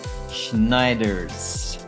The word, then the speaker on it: Sneijders: from Netherlands he is none other than Christopher schneiders so welcome to the show my friend thank